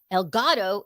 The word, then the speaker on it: Elgato: El Gato is who knows what, because I don't know what that It's the means, but you cat.